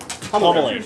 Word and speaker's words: Hummel Lane: Pronounced as if it's one word. Homilane.